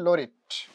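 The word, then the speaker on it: laureate: তাকে বলা হয় ফার্স্ট পোয়েট লরিট অফ ইংল্যান্ড, আর এটার উচ্চারণটা হবে লরিট।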